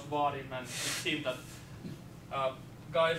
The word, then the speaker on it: Vaadin: Tonight I'm going to be speaking about Vaadin, surprise, surprise, and a bit of about Google